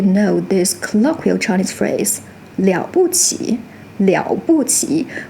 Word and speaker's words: 了: In this pattern, it still keeps the original meaning of to finish, so it's still pronounced "liǎo", not lo.